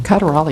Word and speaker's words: Caderali: And that moves us to accept the January 30th, 2016 Citizens Oversight Committee application of Monica Caderali? Caderali is how I pronounce it.